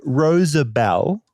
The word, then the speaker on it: Rosabel: So I just want to point out it's not Roosevelt's like the president.